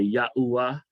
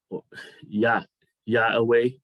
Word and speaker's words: Yahweh: I hear people say Yahuwah, Yahuwah, Yahoo. It's Yahweh.